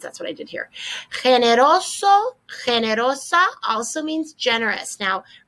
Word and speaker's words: generoso: have an alternative word a lot of people don't like to use this one because they don't like to pronounce that g you can do it as an h if you prefer generoso generosa and so we